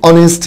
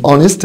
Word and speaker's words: honest: تاني كلمة honest بمعنى امين، قلنا الاتش silent.